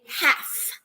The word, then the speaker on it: half: it's called house okay you'd write something in half half half or half all right with an L even though the L is silent all right then if